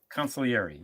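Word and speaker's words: consigliere: Italian accent wrong there you can't pronounce the G don't ever pronounce the G just don't ever pronounce the G consulary yeah if you're going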